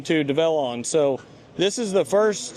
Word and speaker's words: DEVELON: this machine yeah so this is it's actually pronounced develon if you want to get technical so I've